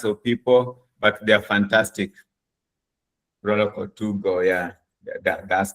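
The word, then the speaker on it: Proloquo2Go: So the most common one is called Proloco 2Go. I'll spell that.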